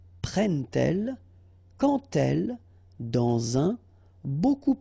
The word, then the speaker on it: prennent-elles: d to make the liaison, but you will pronounce it like t. And so you will get prend-il, okay? But then here, prennent-elles, okay?